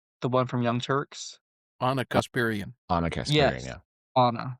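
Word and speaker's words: Ana Kasparian: I think of it as like when Bill Maher was deprogramming, is her name pronounced Anna, the one from Young Turks? Anna Kasparian.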